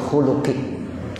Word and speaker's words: خلق: bambu Khusnul khuluqi ini bab menerangkan tentang budi pekerti yang baik Husnul khuluk ya dibaca domahnya dan lamnya khuluq jadi itu artinya khuluk